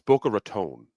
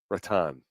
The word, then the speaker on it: Boca Raton: He just said it's Boca Raton. Ratan. What the The guy's been living in Florida for four years and he doesn't know how to pronounce Boca Raton. It's a great place. I like Boca Raton. It's a nice little He did it again. Boca Ratan. What? No one says.